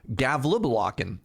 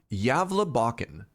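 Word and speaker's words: Gävlebocken: Gavleblocken. How'd I do? Gavle? I'm sorry. You did okay on the Gavla. The bad part was the Bakken. Boken? Yavla? Yavla Bakken.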